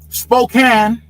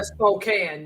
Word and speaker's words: Spokane: Spokane, right? That's how they pronounce it. I used to Yeah, Spokane. Yeah. I you I used to pronounce it spokane as a youth, but I guess that's a violation, right? In Washington state, right? It's Spokane. Yeah. Yeah. Yeah. No, as a youth, I used to pronounce it Spokane. And and and then I discovered that Washingtonians, they don't like that.